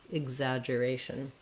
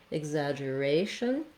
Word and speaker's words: exaggeration: I and a G, exaggeration. We have secondary stress on our zag syllable here, exaggeration, and our main stress is on the ray syllable.